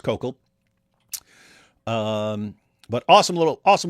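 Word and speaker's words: Koukl: Uh it's kokal. It's pronounced kokal.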